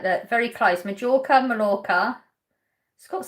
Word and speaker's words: Mallorca: Mallorca is pronounced Mallorca. Yeah, I only know that because of TikTok. Because he's a local, so he pronounces it Mallorca.